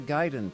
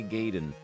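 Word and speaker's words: Gaiden: the grand prize game pronounced it Ninja j h e giden he pronounced the giden properly he did not say gayen I never played Ninja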